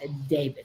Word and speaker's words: D4VD: Whatever it is, it's not good for D4VD, pronounced David.